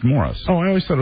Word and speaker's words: Maurice: It's spelled Maurice. It's pronounced Morris. Oh, I always thought it was Maurice Gibb.